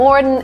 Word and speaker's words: modern: Like O sound, Mo, it's wrong. مثلا در کلمات hot، stop، father عین صدا وجود داره، پس باید این کلمه انگلیسی را مثل modern، modern، modern تلفظ بکنیم.